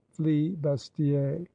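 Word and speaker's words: flibustier: By the Hollanders, they were named Z Rovers by the French flee bastier, which was only the Frenchman's way of pronouncing free booter.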